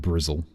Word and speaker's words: Bristol: So, what's really what you might like is that the uh locals call it brizzle. Like it was spelled like drizzle.